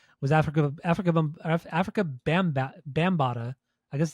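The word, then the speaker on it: Bambaataa: listened to today was Africa Africa Africa bamb bambata I guess it's how you pronounce it we' I've always pronounced it wrong but it's bambata um is that bambata it's bambata bambata that's stupid that's how they were saying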